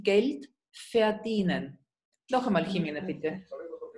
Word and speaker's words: Geld: Y la G en alemán siempre es dura, como si fuera escrita con G-U, Geld, Geld.